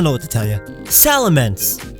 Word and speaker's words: Salamence: Salamence, as in immense salamander. It's big, so don't call it Salamence.